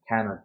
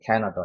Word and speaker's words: Canada: 자, 여기 같은 경우는 강세가 여기 존재하기 때문에 여기는 슈아 발음이 되기 때문에 Canada가 돼요. Canada. 그래서 우리가 알고 있는 캐나다가 아니고 실제로는 Canada가 되는 거죠. Canada.